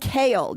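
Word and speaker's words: Chaol: See how I've finally gotten to say his name correctly? Remember how long it took me to say You not kept Chol? saying Kale, yes, I was but saying Chol. Oh, you were saying Chol.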